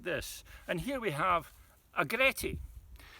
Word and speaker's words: agretti: southern scotland recommended this and here we have agretti it's spelled a g r e t t i